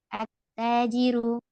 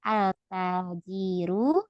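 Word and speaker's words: التاجر: itu sudah ada ya attajiru artinya pedagang tanya melebur lam takrifnya ini enggak dibaca tidak alajiru tapi attajiru attajiru ya asamsu Nah tidak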